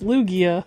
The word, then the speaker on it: Lugia: I don't even know how to say it. I don't know how to say it. It's like Luigi. Luigi. Okay. It's Lugia.